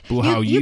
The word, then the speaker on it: 不好意思: We know there are 4 tones and 1 light tone in the Chinese language. This one is the light tone. So 意思,不好意思. 不好意思. Perfect. 不好意思.